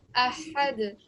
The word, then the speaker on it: Ahad: So as I said before, your jerking sound is great. You're giving a good jerking sound, good kalkala sound at the end of all the verses. But the only thing I highlighted here, the only reason why I highlighted over here is because this ha, is this one of your throat letters?